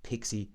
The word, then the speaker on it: PXE: called pixie support or pxe support but it's pronounced pixie support which is when your computer's network adapter